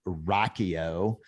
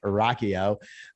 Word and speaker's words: Rocchio: Hey, here today with Paul Rocchio. It's not spelled, it doesn't look like that's how it's spelled, but his last name is a very cool last name, Rocchio.